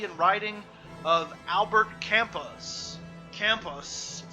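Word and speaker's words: Camus: writing of Albert campus campus was a French philosopher so you got to say it like that and a novelist with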